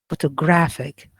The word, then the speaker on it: photographic: for example photographed crap photographic so here we are focusing or stressing just graph i could not say photographic okay i cannot stress other syllables because the primary stress is on graph so that's why we